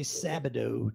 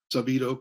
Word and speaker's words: Sabido: For some reason, I always kind of want to say Sabido too. So yeah, it looks that like that, but it's, you pronounce it like Pareto principle, Sabido, Pareto.